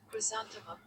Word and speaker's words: chrysanthemum: हाँ Chrysanthemum ही होगा. क्राइसैंथेमम, क्राइसैंथेमम. The word chrysanthemum is pronounced Chrysanthemum. chrysanthemum. It's broken down as chrysanthemum with the Chrysanthemum, emphasis है on ना, the second syllable, san.